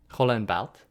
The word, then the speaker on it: Roland Barthes: Why are you pronouncing it like that? But Roland Barthes, as some would like me to say, Roland Barthes, has a kind of an image he provides